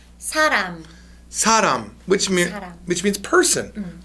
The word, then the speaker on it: 사람: When it's in the beginning of a character or a word, it is an S sound. Please read the first word. 사람.